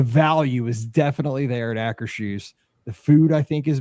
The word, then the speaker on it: Akershus: they were going to Castle Akershus, and he pronounced it Akershus.